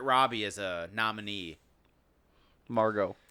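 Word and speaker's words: Margot: they didn't have um Margaret Robbie as a nominee Margo Margo say it right bro you can't disrespect the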